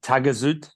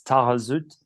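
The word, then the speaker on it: Taghazout: YouTube videos that I watched they call it tagaz because it's spelled t but uh in French you don't pronounce the the H so it's tarut and that's home to the famous Anchor Point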